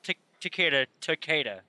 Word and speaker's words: Takeda: even the dev that in that video that he said that Johnny was in the game, he pronounced Takeda.